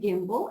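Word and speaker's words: gimble: two words Sly the make the G hard in Gaia and Gimbal and pronounce wrath to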